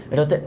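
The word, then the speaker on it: ح: থেকে হাকের মাঝখান থেকে এটার মাখরাজটা দুই নাম্বার মাখরাজ এটা আছে আইন আর হা সেইম মাখরাজ আচ্ছা এটা খ বানানোর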